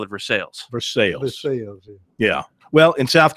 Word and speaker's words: Versailles: They pronounce it Nevada. Nevada. And they have one that's what Versailles would be in France. They call it Versailles.